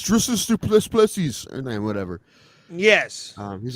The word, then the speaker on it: Dricus Du Plessis: Where's the one time he's like, "You're saying my name wrong. It's Dricus Du Plessis," and then whatever.